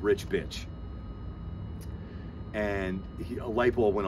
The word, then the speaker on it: Bich: So he just called it the BC Rich Bitch and dropped the T out of bitch, and it's B-I-C-H. So Rich Bitch, spelled the same way.